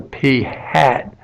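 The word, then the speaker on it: p̂: be written with a p hat so this is pronounced P hat because it's got a little hat on top of the P these would apply in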